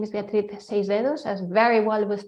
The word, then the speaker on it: Beatriz: who is talking so yes my name is Beatrice as very well with pronounced by Christopher um so um for those